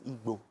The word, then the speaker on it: Igbo: Say it again. Igbo. It's Igbo. Yes, that's the right way to say it.